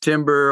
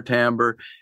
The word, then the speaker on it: timbre: more dramatic and Timbre sometimes it's pronounced Timber or Timbre and uh both are acceptable but it that for